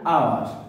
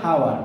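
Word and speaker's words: hour: যেমন দেখেন অ্যান আওয়ার, এর উচ্চারণ কিন্তু হাওয়ার না, নট হাওয়ার।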